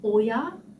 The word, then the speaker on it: Oya: And I think, I don't want to pronounce it wrong, but I think it's called Oya, the way how to do how to do the crochet and the beads, and it's spelled OYA.